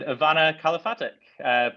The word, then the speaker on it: Ivana Kalafatic: And Ivana Kalafatic, please help me understand if I pronounced your name correctly, and also if you